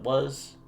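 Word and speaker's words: は: week, that's what it was. We also talked about the particle ha, which is pronounced, in this case, as wa, specifically when we connect it to two nouns.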